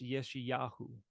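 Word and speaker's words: ישעיהו: consonant this is Isaiah this is pronounced yeshi yahu and yahu is is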